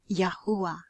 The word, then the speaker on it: Yahuwah: name of our Creator the four Hebrew letters called the Tetragrammaton yad hey whoa hey which is pronounced yahuwah and so going back